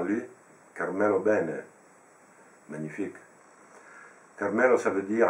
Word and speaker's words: Bene: bien ENF c'est ben en italien on pronce avec de ben il y a cette prononciation géminée du B qui est très forte car jou beaucoup